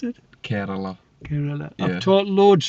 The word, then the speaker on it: Kerala: How would you pronounce it? Kerala.